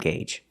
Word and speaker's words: gauge: And don't forget the tachometer or the RPM gauge. That lets you know how fast the engine is turning. And remember the pronunciation, gauge. Use the long A sound.